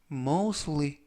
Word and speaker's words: mostly: 이번 표현은 mostly 라고 발음하시면 되겠고요.